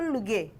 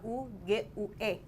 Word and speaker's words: Lugue: Karena nama marga papa tuh pronounce-nya tuh Luge. Luge. Tapi bahasanya tuh Lugue. Bahasa Indonesia Lugue.